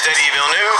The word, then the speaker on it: Denis Villeneuve: It is Denis Villeneuve. Fellow Canadian, Denis Villeneuve. There you go. They have the pronunciation.